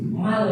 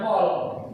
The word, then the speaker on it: mal: Mal ya, bacanya yang perempuan, mal, bukan pol, mal, ya, mal, zakat mal, zakat fitrah, zakat mal.